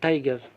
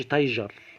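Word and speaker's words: tiger: مع الاستبعاد نستبعد طبعا هذه الكلمات كما في المثال كلمة تايجر، ما أقولش تايجر. لاحظ إن الجيم هنا الجي اتنطقت جيم.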